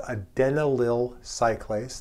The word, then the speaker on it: adenylyl cyclase: Nearby the G protein is a membrane embedded enzyme, not a receptor, but an enzyme that's called adenylyl cyclase. That is actually the correct pronunciation.